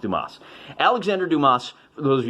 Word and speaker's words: Dumas: i'm kidding of course i know that it's pronounced dumas alexander dumas for those